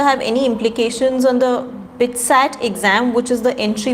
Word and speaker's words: BITSAT: by the minister have any implications on the bitsat exam which is the entry for builder institute is that how you pronounce it yeah a bit sad yeah yeah good but with statement is uh